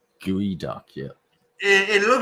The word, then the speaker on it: geoduck: YouTube and it said I thought it said Geoduck because it was spelled GEO, right? Yeah. Then I Googled it and it said pronounce Gooey Duck. Gooey Duck, yeah.